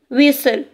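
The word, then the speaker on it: whistle: Here व ई ल विसल टा साउंड इज साइलेंट.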